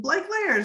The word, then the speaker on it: Blake Leyers: pronunciation and she said blake layers like cake layers and i'm like i'm